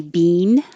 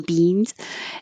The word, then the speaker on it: being: being like this and you can't say bean you have to let like human beings it has to have two parts so you're putting your tongue in the e position which is very high e and then you're holding it there and making that same sound again so you don't have to chop it but you do have to make the e sound twice being being your tongue